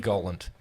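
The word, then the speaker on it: Galant: It is said Gollant.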